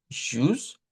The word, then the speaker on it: Tschüss: aquí es ya, miren, esta U con diéresis, que esto de aquí no es la Y, bien, que nosotros conocemos, sino que es una representación de un sonido de I, pero redondo. La I es un sonido,